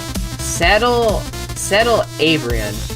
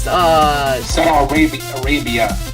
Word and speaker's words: Saddle Arabia: Let's see, Saddle Abrian. That's Saddle Arabia. Arabia, it's good. That's pronounced.